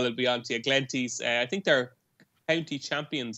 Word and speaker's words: Glenties: It's Glenties, not Glen Tyze.